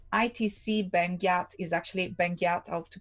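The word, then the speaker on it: Benguiat: about the typography ITC band gap is actually Banqiao talk to pronounce it correctly is the last name of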